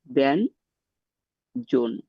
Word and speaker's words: ব্যঞ্জন: উদাহরণটা কি সেটা উদাহরণ আমি যদি বলি ব্যঞ্জন তাহলে এটার উচ্চারণটা হচ্ছে আমি যদি উচ্চারণ অনুযায়ী লিখি ব্যান জন তাহলে দেখা যাচ্ছে ন এর মত উচ্চারণটা হচ্ছে তাহলে এটা উচ্চারণটা আমি